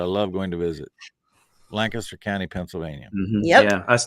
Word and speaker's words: Lancaster: And if you go there, make sure you both don't say it like a Californian or a Nebraskan. Say it like you're from Lancaster. It's just one syllable.